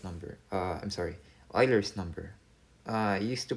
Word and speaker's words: Euler: number uh i'm sorry euler's number i used to pronounce this as euler but i realized that um you pronounce it as euler's number euler as in it's a german surname uh your euler's number